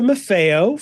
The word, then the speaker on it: Maffeo: today talking to MAFO from Wake Forest University first off hi hi Eric uh did did I come anywhere close pronouncing your last name correctly you were perfect absolutely perfect okay um I over my